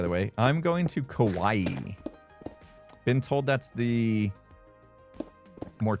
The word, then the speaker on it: Kauai: Kauai is not really said like Hawaii, just Kauai.